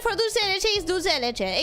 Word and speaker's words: dulce de leche: Except people who don't speak Spanish tend to pronounce it dulce de leche, assuming that it's an Italian thing. Like, they see the word and they're like, ah, Italian, dulce. And it's like, no, it's Argentinian. It's dulce.